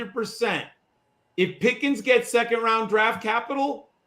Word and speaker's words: Pickens: people forget that uh pickens rhymes with higgins so it's hard not